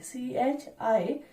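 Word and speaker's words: χ: a Greek letter I CH I or which looks like X we may also say X or we may pronounce it as Chi so mole fraction mole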